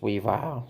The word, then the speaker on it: Weavile: And his name is not Weavile, it's pronounced Weavile.